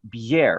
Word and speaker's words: Bjerre: The Christian, I think it's Bjerre, right? Yeah, that's exactly how you pronounce it.